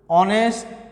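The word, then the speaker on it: honest: My father is অ্যান অনেস্ট ম্যান। My father is অ্যান অনেস্ট ম্যান, তাহলে এখানে অ্যান বুঝছে, এখানে এইচের উচ্চারণ কি হয়েছে? সাইলেন্ট হয়েছে। এইচের উচ্চারণ হ না হয়ে এখানে ওর উচ্চারণ হয়েছে।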